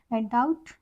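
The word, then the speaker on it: doubt: पहले अगर बी आए दूसरा रूल कहता है टी से के पहले अगर बी आए तो हमारा बी साइलेंट होता है डाउट यानी डेट डाउट डेट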